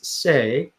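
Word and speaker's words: 四: So 4 is say, and what that means, it sounds like death.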